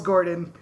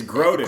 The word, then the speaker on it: Grodin: This is Robert De Niro, Charles Gordon, Midnight Run style. Thank you. I appreciate that. It's Grodin.